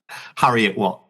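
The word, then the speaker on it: Heriot-Watt: his storytelling, holding a history degree from the Harriet Watt University in Edinburgh. Hope I pronounced that correctly. Almost. Oh, how is it pronounced? Harriet Watt.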